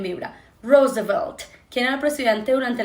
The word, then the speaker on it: Roosevelt: El presidente durante la Segunda Guerra Mundial era Roosevelt. Roosevelt. ¿Qué pasa aquí? R suavecita, Ro, que vibra como si fuera una Z, Rose, y la V también vibra. Roosevelt.